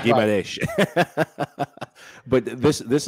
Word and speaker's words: Guimarães: man from Newcastle, Bruno Guimarães, let's get the pronunciation books out. Oh, wait. John might correct you on that. Go on, John. Yeah, Guimarães. Okay, like I said, Guimarães.